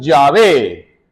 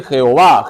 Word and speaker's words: Yahvé: Ya alguna vez he explicado que las 4 letras sagradas se pronuncian Yahvé, Yahvé. No se dice Jehová, Jehová es un artificio, ¿ya?